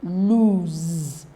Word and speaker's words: lose: of them is retained while the s in l o s e all right is what not retained it changes to Z so look at it